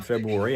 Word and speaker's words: February: I do pronounce the R in February and I don't pronounce a T in often.